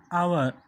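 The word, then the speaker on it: hour: one input see here look at this word our it begins with a consonant but it is not pronounced as consummate it is part the pronunciation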